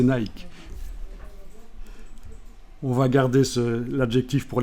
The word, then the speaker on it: Nike: nicke Nike savez qu' en principe ça se prononce Nick parce que ça c'est une desse de l'Antiquité la DESS Nick mais bon comme c'est pas très bien vu pour l'instant notre époque on va prononcer Nike on va garder l'adjectif